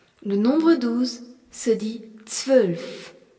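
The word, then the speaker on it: zwölf: Dansulf, nous avons le Z qui se prononce T, le W qui se prononce V et le Ola.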